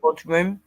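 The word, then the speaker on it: bodhrán: pronounced bodhrum.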